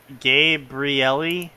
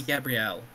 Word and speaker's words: Gabrielle: Fucking chat just like it's Gabriel. It's not. This is not an angel, nor is it male.